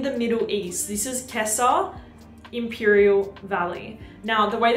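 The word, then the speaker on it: Gissah: local community in the Middle East this is Kessa Imperial Valley now the way that you spell it me would pronounce it Giza but apparently it's pronounced Kessa this is Imperial Valley you guys I have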